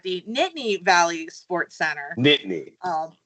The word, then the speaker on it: Nittany: Nittany. Yeah, it's Nittany. Nobody outside of Pennsylvania ever pronounces it right.